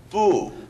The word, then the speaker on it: 不: 이것도 정확하게 위에서 아래로 내려옵니다. 사성이니까 不. 뿌. 뿌. 뿌. 좋은데요. 시작점을 좀 높은 데서 해볼까요? 5도에서 시작해 봅시다. 뿌. 뿌. 뿌. 뿌. 라이. 라이. 뿌 라이. 뿌 라이.